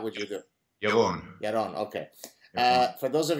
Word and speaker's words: Yaron: Yaron.